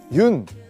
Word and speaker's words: 윤: 여기 보시면 흙이 있는데요 많은 분들이 아마 그 윤 이제 윤이라고 읽거든요 연이라고 읽으실 수도 있고 뭐 여러가지 방법으로 읽을 수 있는데 그 유녕근 화백